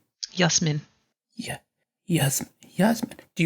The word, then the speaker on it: Jasmine: for me you know my name isn't actually technically jasmine it is well it is but stop pronounce that way Oh how are you supposed to say it yes men yeah yes yes man